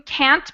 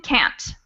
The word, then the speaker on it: can't: when they say you can't blame the youth. They don't really pronounce the T in can't. So it ends up sounding like can.